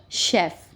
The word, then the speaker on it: chef: ठीक है, while CH gives sound of sh in word chef.